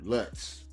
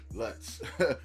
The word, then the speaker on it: Lutz: Let me get her name right cuz I already butchered it. But uh what is her freaking name? Lutz. Lutz. Matilda Lutz.